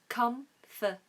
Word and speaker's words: comfortable: a b l e in the United States they use three syllables comfor comfortable but in standard British English we're supposed to say comforable comfortable comfortable comfortable what